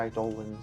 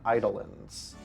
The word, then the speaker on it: eidolons: Like, I used to pronounce it eidolons. But in Final Fantasy 16, which is coming out in June, they like pronounce it as eidolons, which is why I've been doing that lately.